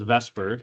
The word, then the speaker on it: VSEPR: it is called vspr sometimes pronounced as Vesper even though it's not quite spelled that way and what it stands